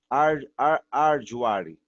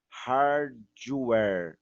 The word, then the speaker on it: hardware: Arduari, tá vendo, ó? Arduvari. Não vou falar. Eu vou falar hard. Eu não falo o A ou o H com o A, né? Hard, hard. Eu falo hard. Puxo o R mesmo, tá bom? E aí o where, né? De wave, né? Hardware, ok?